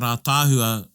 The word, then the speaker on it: ātāhua: But when you write ātāhua, the first A has a macron. Aye. Oh. Yeah. Yeah, because that's how you say it, ātāhua. You don't say ātāhua. Yeah. You say ātāhua.